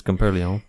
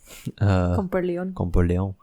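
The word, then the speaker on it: Comporellon: I mean, you're adding a little extra sazon, pero but it's Comparleon. Comparleon.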